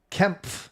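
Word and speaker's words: Kempe: It is pronounced like Kemp. So you say the P and the F. Kemp.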